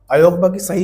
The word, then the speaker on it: अयोगवाह: बोलते हैं आयोग वा आयोग वा अयोगवाह स्पेलिंग ये होती है समझ रहे हो आधा ग होता है पूरा ग नहीं होता तो अयोगवाह दोनों होते